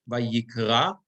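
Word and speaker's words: וַיִּקְרָא: Because you see the trope is above, I'm sorry, the Reish, Vayikra, Elohim, right? The Mapach is under the Hey.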